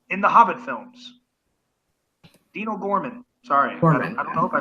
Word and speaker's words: Dean O'Gorman: watching people up there old Gorham actually does have an apostrophe between the oh and the geez it is not an initial it is in fact